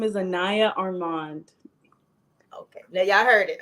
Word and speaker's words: Anayah Armand: to mess it up I am horrible at pronouncing names hello my name is Anaya Armand okay now y'all heard it I'm gonna try